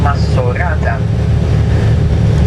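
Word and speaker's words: Maxorata: m in fact maata with an X it's written we pronounce it with an S masata uh the time of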